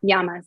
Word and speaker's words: yamas: dude that's right number one yamas am i pronouncing that yeah yep yamas yeah so yeah so think of yamas as